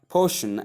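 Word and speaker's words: potion: So o sound versus o sound. Portion is a diff thong. That is o sound is a diff thong. while or sound is a monothong.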